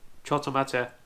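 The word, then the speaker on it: ちょっと待って: below me right now, you'll see that with the small su, it turns the to in choto to to. The T consonant is stressed to sound more like a double consonant, like the two T's in little. And the little su in mate turns te into a double T-E.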